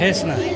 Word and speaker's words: Hesna: Hassan Sayyid and Hesna. Hes. Hesna. Kan Hes kan bukan Has. Well, I'm interested to see the research. Hes. Bukan Has, Hes.